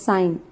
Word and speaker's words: sine: Then short form of sine is E. We will not write, we will directly write SIN. It is not sin, it will be pronounced as sine because sine is the full form.